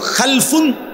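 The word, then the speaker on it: خلَف: খালফুন আরেকটা হল খালাফুন একই শব্দ শুধু উচ্চারণের মধ্যে একটু ভিন্নতা মাঝখানে একটা লাম আছে এ লামটার মধ্যে যদি সাকিন হয় তাইলে হল খালফুন আর যদি লামের মধ্যে জবর হয় তাহলে হল খালাফুন আরবি শব্দ খালফুন লামের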